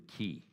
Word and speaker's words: qi: systems um rely on something that the Chinese call the power of the key and the way you spell that is q i and so you might